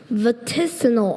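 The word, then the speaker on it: vaticinal: Vatissal. Are there any alternate pronunciations?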